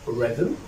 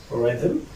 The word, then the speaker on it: rhythm: such as Ryan right while or such as rhythm rhythm rhythm hurry in the last part in this video